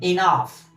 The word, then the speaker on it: enough: So the word enough, notice this GH is like F, enough, F, okay? Pronunciation, enough.